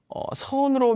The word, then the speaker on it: 선: 말로 하면 찾나 입니다 같은 한자 를 쓰는데 우리는 선 이라고 발음하고 일본사람들은 잰 이라고 부릅니다 중국 사람들은 찬 이라고 부르고 요 원래는 선 나라였습니다 더